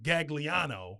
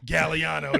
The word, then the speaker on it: Gagliano: Because you said, I was saying Gagliano, right? But you were saying that we dropped the G. The old school Italians dropped the G. So how do you say it? Gagliano. Gagliano.